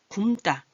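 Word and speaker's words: 굶다: 굼다, 굵다가 아니라 얘는 굼다. 굵다 하면 아까 뭐 소금이 굵다 할 때 굵다도 잘못 발음하는 사람이 굵다라고 발음한다 그랬죠? 그거랑 혼동이 돼요. 굼다 그러셔야 돼요. 굼.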